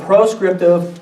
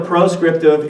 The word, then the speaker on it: proscriptive: Here's a good way to remember proscriptive and prescriptive norms. Pros rhymes with no. Proscriptive norms tell you what you should not do.